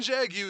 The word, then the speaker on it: Jaguar: So Jaguar, war. Is Jaguar It's fucking Jaguar, you fucking Yank. It's fucking Jaguar. You're supposed to pronounce it Jaguar.